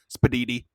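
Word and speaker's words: spiedini: It's spelled sp i e d i n i. It is apparently said spaditi.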